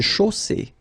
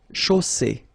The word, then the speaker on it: chaussée: Une chaussée. Okay, here final E not pronounced, and then you get the double S between two vowels, so it's really strong. I mean, the S is s.